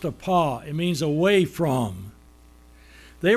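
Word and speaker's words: ἀπό: It's pronounced a pa, it means away from.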